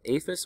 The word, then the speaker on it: IAFIS: maintained that aphis system its iafis it is called aphis or pronounced aphis had more than 76